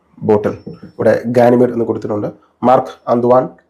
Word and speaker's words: Marc-Antoine: ഇതിൻ്റെ പേര് പലരും തെറ്റിച്ചാണ് ഉച്ചരിക്കുന്നത്. യഥാർത്ഥത്തിൽ ഇതിൻ്റെ പേര് മാർക്ക് ആന്ത്വാൻ ബാർവ ഗാനിമെഡ് എന്നാണ് പെർഫ്യൂമിൻ്റെ ഫ്രഞ്ച് ഉച്ചാരണ ശൈലിയിൽ പ്രൊനൗൺസ് ചെയ്യേണ്ടത്.